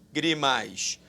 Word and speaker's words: lágrimas: Lágrimas, mais uma vez, preste atenção. A sílaba tônica não é a última, não é a penúltima, é a antepenúltima.